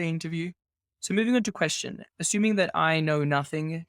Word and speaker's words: QSTN: may have been mispronouncing it all along you pronounce that question if people are confused we've been using them interchangeably throughout the interview so moving on to question assuming that i know nothing because i've done